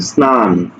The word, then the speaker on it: স্নান: স এর সাথে ন যুক্ত আছে সুতরাং এটার উচ্চারণ স্নান হবে স্নান স্নান হবে বস্তা দন্তস এর সাথে যুক্ত আছে